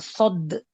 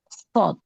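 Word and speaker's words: ص: Enggak enggak enggak sad sekarang shod.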